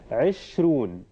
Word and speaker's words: عشرون: So, can you think of the tashkil from my own pronunciation of the word? So, عشرون. So, عشرون. So, is it fatha, kasra, dhamma, or sukun? Yes, very good. It is kasra.